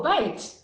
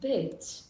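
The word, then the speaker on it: בית: Oh, bite. Bite. You knew the word bite. Yeah. Now I realize. Yeah. Bite. Yeah. But it's pronounced bait.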